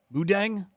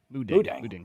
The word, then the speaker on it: Moo Deng: Well, how do you pronounce it? Moo Deng? Moo Deng, right?